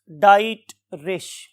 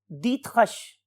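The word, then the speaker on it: Driesch: के रेफरेंस से hence डाइट रिश right लेकिन जब हमने इसको जर्मन लैंग्वेज में प्रोनाउंस करना सीखा तो हमें पता चला कि his name is hence दत हश hence दत हश right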